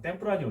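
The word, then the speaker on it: Tempranillo: 거기 바로 밑에 보면 템프라니오 있죠. 그 LL이 Y예요. Y. 스페인어에서 발음이. 그래서 템프라니오라고 했습니다.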